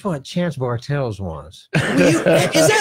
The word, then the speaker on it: Bartels: Audience, it's Nostalgic Podblast, written by Chance Bartels, directed by Chance Bartels, all roles acted by Chance Bartels, with the all Chance Bartels girls. Rhymes with fart tells.